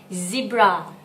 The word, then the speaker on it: zebra: Zebra เน้นไม่ใช่ C นะคะ มันเป็นตัว Z มันต้องเป็น Zebra เลย The last one.